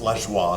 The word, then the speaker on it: Lajoie: Or like as a little kid, I used to say Lajoie. So I think it's pronounced Lajoie, so I'm going to stick with that.